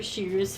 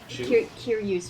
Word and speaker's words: Kiryu: It's just a close-up look of Shiru's face with like a two raised eyebrows. Shoe's face? Kiryu's face. Did I say something wrong? You just didn't pronounce the K.